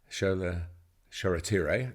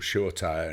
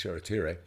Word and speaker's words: Shoretire: days they signed a player from England, Pauk, Shoretire, that's how it's pronounced. He was called Shortire in his young, he's still young now, but